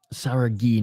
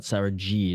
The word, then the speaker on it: Saragih: Saragih, not Saragih, is how you pronounce his name.